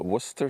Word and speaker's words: Worcester: And then you have the Worcester sauce, which is completely bonkers how you pronounce it.